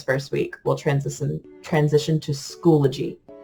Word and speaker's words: Schoology: But with the online training that they gave us, the people who own the program say that it's pronounced Schoology. Schoology.